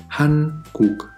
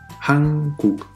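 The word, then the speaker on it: 한국: El primero se lee como Han y el segundo se pronuncia como Kuk y viene de la palabra país. Escuchemos una vez más. Hankuk, Hankuk.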